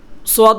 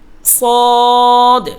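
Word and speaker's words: ص: সোয়াদ বলা যাবে না। সোয়াদ, দোয়াত, তোয়া, জোয়া এগুলা বলা যাবে না। সঠিক উচ্চারণ হলো সদ।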